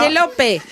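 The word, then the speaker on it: Penélope: Non, mais en espagnol, on prononce toutes les lettres. Pénélope.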